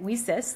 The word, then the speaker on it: WiCyS: our acronym WIS and we pronounce that we sis like we sisters because we're a global cyber Sisterhood so our mission is